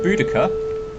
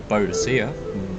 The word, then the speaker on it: Boadicea: So we have our first hero, Boadicea, or Boadicea, depending on how you want to pronounce that.